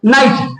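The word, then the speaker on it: knight: टी इसको क्या बोलेंगे क्या हम कनाइट बोलेंगे क्या बोलेंगे? नाइट।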